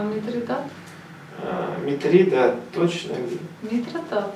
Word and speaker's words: Митридат: В греческом «а» как «е» или как «и» не читается, «а» читается как «а». Или тогда его надо читать не «митродат», а «митридит», если «а» читать как «и». Никто его как Митридит не берется писать. Глупость. Тогда почему Митридат?